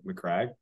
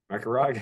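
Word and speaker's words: Macragge: We get a lot of shit for mispronouncing things, apparently. Apparently you say McCrag incorrectly.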